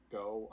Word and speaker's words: Ngo: his name last name it's like go i think it's just go but it's spelled ngo um he's like he's